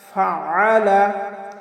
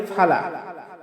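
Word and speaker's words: فَعَلَ: আলাম তারা কাইফা ফাআলা, আমরা অনেকে পাঠ করি ফালা, কাইফা ফালা। আসলে ফালা বললে আইনের উচ্চারণটা হয় না, কারণ আইনের উচ্চারণ আমাদের হলকের মধ্যখান থেকে একটু চাপ দিয়ে উচ্চারণ করতে হবে।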